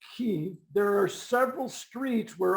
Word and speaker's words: Kyiv: In Kiev, which is now obviously pronounced Kyiv, there are several streets where entrepreneurs can sell their goods to tourists.